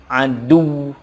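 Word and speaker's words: عَدُوّ: Begitupun kata berikutnya, aduwun, ketika waqaf dibacanya adu. Adu, harus ada tekanan.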